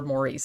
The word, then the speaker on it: Maurice: Morris is his name. Morris or Maurice. It's spelled Maurice, but I know some in the UK, sometimes they pronounce it Morris, and he pronounces it Morris in the movie.